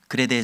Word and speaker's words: 크레타: 디도는 바울의 제자로서 이제 그레데 섬, 오늘날 식으로 발음한다면 크레타 섬입니다.